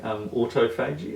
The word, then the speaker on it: autophagy: So when you see the word written, it looks like autophagy. It's pronounced autophagy.